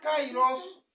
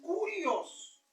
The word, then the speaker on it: kyrios: Y esta palabra kairos, pues es una palabra griega, pero en realidad es kurios, ¿verdad?